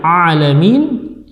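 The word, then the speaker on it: العالمين: Seharusnya dibaca ain, alamin ya. Sering terjadi kesalahan di sini membaca dengan huruf hamzah. Jadi yang seharusnya ain dibaca hamzah ya.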